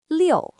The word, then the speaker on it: 六: It is pronounced liu.